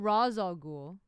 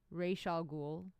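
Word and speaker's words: Ra's al Ghul: I think it's Reish or Ra. It's not Raz al Ghul. Reish al Ghul. I don't know.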